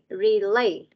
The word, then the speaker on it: relay: Most of you mispronounce this word. You guys read, speak it similar to this word. Really. Các con đọc cái từ relay này giống cái từ really đúng không? No, it is relay.